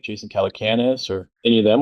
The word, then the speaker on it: Calacanis: Calaconis. Calacanis is how I pronounce it.